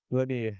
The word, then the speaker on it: Lagnier: bom tá tem o Nicolas l não sei pronunciar esse sobrenome é lanier lanier lanier é o Nicolas lanier que ele